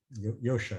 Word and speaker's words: Joscha: Joscha, I think. Yosha, I think he pronounces his name.